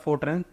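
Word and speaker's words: FORTRAN: ठीक है, formula translation, इसका प्रोनाउंसिएशन क्या होता है, फोरट्रैन, ठीक है, फॉर्मूला ट्रांसलेशन, ऑप्शन 1।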